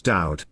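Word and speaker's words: דוד: There is no V in ancient Hebrew, and as we have discussed, the Hebrew Y is pronounced Ow.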